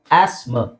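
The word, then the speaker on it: asthma: ಅಂತ ಹೇಳ್ತಾರಲ್ಲ ಅಸ್ತಮ ಅಸ್ತಮನ ಎರಡು ತರ ಹೇಳಬಹುದು ಒಂದು ಆಸ್ಮ ಆಸ್ಮ ಆಸ್ ಹೇಳಬಹುದು ಇಲ್ಲ ಅಂದ್ರೆ ಆಸ್ಮ ಆಸ್ಮ ಎರಡು ಹೇಳಬಹುದು ಆಸ್ಮ ಆಸ್ಮ ಓಕೆ ನೆಕ್ಸ್ಟ್ ಇದು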